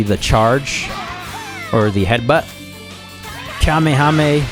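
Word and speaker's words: Kamehameha: Kamehame or Kamekameha, right? Just because he mispronounces it in the anime.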